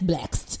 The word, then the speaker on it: Blxst: Baby, that's Blaxt. It's BLXST? Yes. Your name is Blaxt. Just like Six Lack. Six Lack and Blaxt.